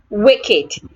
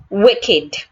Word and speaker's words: wicked: And I have wicked. In the word wicked, there are two A's in that word. First, the letter I sounds A. Also, the letter E sounds A. So together you say wicked.